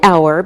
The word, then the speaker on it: hour: look at some examples we say an hour because we don't pronounce the H so it sounds like a vowel sound same with an honest